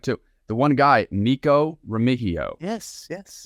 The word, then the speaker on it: Remigio: The one guy, Nico Remigio. Yes. The M is silent, not Remigio. People are going to say Remigio the whole time until he's a star.